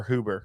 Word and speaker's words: Huber: huber is that how you say it or hoover yep hubert huber that's what i thought huber's old rick